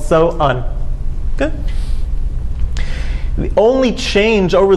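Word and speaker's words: Samhain: The holiday was called So'un. It's pronounced many different ways, but the Celtic holiday was called So'un.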